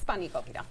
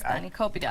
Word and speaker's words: spanakopita: Spanakopita. Oh, okay. Spanakopita.